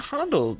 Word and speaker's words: Handel: Yeah, Handel. Like Hans.